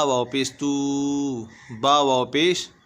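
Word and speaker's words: توبوا: ता वाव पेश तू, बा वाव पेश बू, ध्यान रखें यहाँ पे ता वाव पेश तू है, यहाँ बा वाव पेश बू है, ये अलिफ खाली है, इस अलिफ का कोई काम नहीं है, ये अलिफ खाली है, हिज्जे में भी नहीं पढ़ा जाएगा, रवा में भी नहीं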